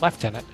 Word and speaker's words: lieutenant: Lieutenant to it's just we never changed the pronunciation so we still spell it Lieutenant but we pronounce it left tenant I have no idea